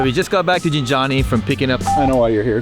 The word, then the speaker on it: Gintani: What's wrong with Gintani? It's not right. Gintani. Gin? No, it's Gintani. Gin? Yes. Everybody says Gintani though. No, well, everybody's wrong. So we just got back to Gintani from picking up.